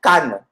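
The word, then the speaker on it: cană: Donc, C-A-N-E. Le A avec chapeau, là. Comme le A de tchashke, là.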